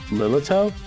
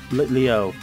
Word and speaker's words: Litleo: Magma Gang Break is what's sent in Lilito? Litleo.